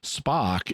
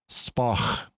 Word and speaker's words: Spock: of sense to me spock is just the english pronunciation of his name really it's spoch with the guttural sound which we don't use in standard english although it is in